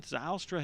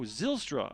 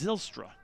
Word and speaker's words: Zylstra: got florida checking in zaustra has checked in rooting for the guy on the mound oh zylstra okay sorry thanks for the pronunciation correction so it's zylstra so yeah if any